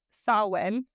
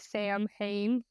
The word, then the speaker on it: Samhain: the history of Halloween starts with Sinn which if you look at it it's spelled like Sam Hayne oh I always I always say sam Hayne because I don't know how to say it apparently well it's sa and I looked it up that's how and I even listened on other videos that's how they said it um this has